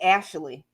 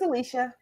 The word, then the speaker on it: Alysha: stick with us draw all my teachers called me ashley i'm like no it's alicia thank god for alicia